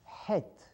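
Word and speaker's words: heth: not have in English it's pronounced head it comes right from your thought it's a general sound it comes from your thought throat and obviously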